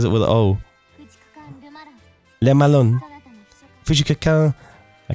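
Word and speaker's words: Le Malin: my final form now we progressed from pronouncing Lee Malone's name like Lama Lin and then we said Liam Allen now our final form actually pronouncing it correctly let Malone because if you you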